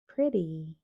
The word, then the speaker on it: pretty: Si quieres decir bonita, no dirías pretty, dirías pretty. Pretty.